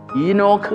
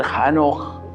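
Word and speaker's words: Enoch: നമ്മളുടെ ജീവിതത്തിൽ നിന്ന് പരിശോധിക്കേണ്ടതാണ് ഈ ഹാനോക്ക് എന്ന പദം ഈനോക്ക് എന്ന ഇംഗ്ലീഷിൽ വേറൊരു ഉച്ചാരണവും കൂടി അതിനുണ്ട് അതിന്റെ എബ്രായ രൂപത്തിൽ ഹാനോഹ് എന്ന് തന്നെയാണ് ആ പദം ഇന്ന് ധാരാളം ആൺകുട്ടികൾക്ക് പേരിനായി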